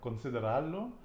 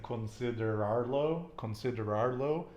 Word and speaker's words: considerarlo: Okay, because you're kind of trilling that R. Considerarlo. Not saying considerarlo.